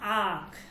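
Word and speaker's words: آنکھ: ওকে, তো দেখেন, আলিফ সে আখ, আলিফ সে আখ। দেখেন এখানে আলিফ, নুন, কাফ, হে, 4টা বর্ণ আছে। এখানে কিন্তু নুনের উচ্চারণ হবে না, ঠিক আছে?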